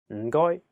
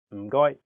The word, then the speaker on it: 唔該: 唔該. It means thank you. 唔該. Keep repeating after Jinho until you get it. 唔該. Your turn. 唔該. The first character is in a very low tone, fourth tone.